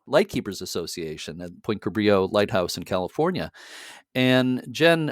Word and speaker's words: Cabrillo: born in portugal and the pronunciation in portuguese would have been a little bit different than in spanish so for many years um we always assumed that it would have been pronounced cabrillo and in recent years